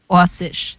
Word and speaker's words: Orsic: But I believe it's more like Orsic.